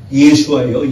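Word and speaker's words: ישוע: 그냥 원어상으로 보면 예수가 아니고 뭐예요? 예수와예요. 예수와. 우리 한번 따라해볼까요? 예수와. 예수와. 예수와가 원어예요. 근데 우리 한글로 번역하다 보니까 예수라고 번역을 한 것이지. 그러니까 원래 정확하게 말하면 언어상으로 발음하면 예수와예요. 구약의 여호수아하고 동일한 발음이고 똑같은 스펠링입니다.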